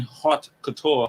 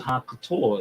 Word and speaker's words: haute couture: Like, you cannot say you're making haute couture. How you pronounce it?